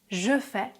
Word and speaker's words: je fais: Et c'est exactement le même phénomène quand je dis je fais. Je fais devient je fais.